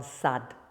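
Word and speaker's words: сад: The word for a garden, sad, sad. That's the D, sad. It's almost like a T, sad. It's very dry.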